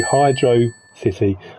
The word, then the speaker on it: Hydro City: And that's how you pronounce it separately. Hydro city, not hydro city.